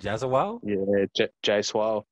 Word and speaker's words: Jaiswal: Jaswal?